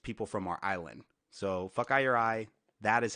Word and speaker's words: fokaiureye: So Fuckeye Your Eye, that is how you pronounce it.